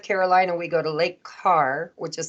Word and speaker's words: Kerr: I always tell everybody think of the Mason jar right right parents by